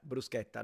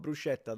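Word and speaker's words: bruschetta: think my pronouns are brusketa yeah brusketa not brushetta though brusa there we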